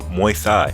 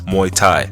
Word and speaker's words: Muay Thai: I say my thigh cuz that's how you pronounce it my thigh now I never did my thigh in my life but even I knew that's pronounced as Muay Thai so I find it really odd that a